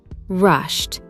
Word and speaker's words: rushed: sh, ch, or F, the ed ending is pronounced as a crisp T. Listen to these words from Ben's story. Walked, rushed, brushed, dropped. Notice how it is not walked or rushed. It is walked, rushed, dropped.